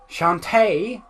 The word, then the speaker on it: Shantae: the line at least see shantae is that's how it's pronounced okay heaven pronounce we did it both wrong I just you pronouncing it like a pirate sir I just slur half my words anyway so it's just my accent is why I call it shanty we've been friends as